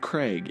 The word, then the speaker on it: Kregg: So come on, man, it's Kregg, not Krieg.